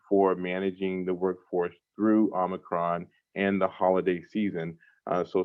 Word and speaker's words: Omicron: Now, if you have not heard the terminology Omicron, it is pronounced Omicron, not Omicron.